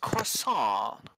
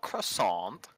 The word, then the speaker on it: croissant: It's pronounced croissant, not croissant.